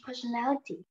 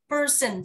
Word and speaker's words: personality: Person, giờ nhẹ thôi ạ. Đừng đọc là person nhá. Đọc lại nào. Personality. Personality. Chính xác luôn. Khi em đọc theo anh Mỹ thì chữ T á, nó được kẹp giữa hai cái nguyên âm, nó chuyển thành đờ. Đọc là personality.